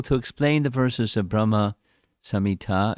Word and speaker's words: Brahma Samhita: explain the verses of Brahma samita it should be with a short a not a long a although the Brahma samita